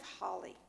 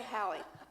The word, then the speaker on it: Hallie: The text, I'm dreaming of Holly, actually Haley. Haley, H-A. What rhymes with what's coming up in the valley? Valley, Hallie. Okay, Hallie.